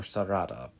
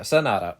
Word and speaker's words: Sanada: Is it Sanada or Sarada? Oh yeah, Sanada.